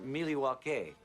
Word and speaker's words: Milwaukee: Indian name yes Pete it is actually it's pronounced milake which is El gonin for the good land